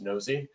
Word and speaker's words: Knowsi: as well i mean it is pronounced nosy um it's it's a